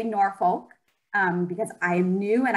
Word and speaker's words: Norfolk: Okay, our traditional way to say our name is Norfolk. And that is because we were settled on the North Fork of the Elkhorn River.